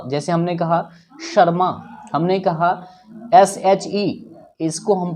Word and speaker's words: शर्मा: SH जहां कहीं भी होगा तभी आप उसका उच्चारण श करेंगे ना कि स। तो जहां कभी भी आप SH पाओगे उसका उच्चारण तालव्य श होता है, क्योंकि SH का